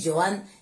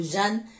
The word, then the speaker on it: Jeanne: bien que dans d'autres versions on dit Joanne. J'ai tendance à dire Joanne, alors excusez-moi et permettez-moi, au cas où je mélange tous les deux, Joanne ou Jeanne, en tout cas, permettez les deux prononciations.